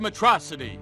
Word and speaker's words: Metro City: of mispronouncing certain words he pronounces school as a Sho and pronounces Metro city as metrocity this atrocity finally catches